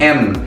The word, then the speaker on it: yen: और दोस्तों ये येन जो है ना हम लोग येन प्रोनाउंस करते हैं, लेकिन जापान के जो लोग हैं ना उन लोग इसको प्रोनाउंस करते हैं एन और इसका मतलब है राउंड।